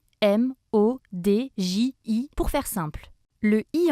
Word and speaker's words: Imodji: dire emoticon chiquissime fashion on l'écrit comme ça se prononce im aux djs pour faire simple le